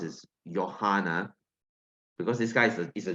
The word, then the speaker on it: Johann: name is pronounced as Johanna because this guy is a German because it's Germany in German uh J is pronounced as y okay and I think